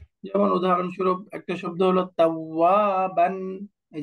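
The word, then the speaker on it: توابا: যেমন উদাহরণস্বরূপ একটা শব্দ হলো তাওয়াবান। এই যে তাওয়াবান, এখানে যদি আমরা ওয়াকফ করি তাহলে পড়তে হবে তাওয়াবা, তাওয়াবা, এরকম পড়তে হবে তাওয়াবা।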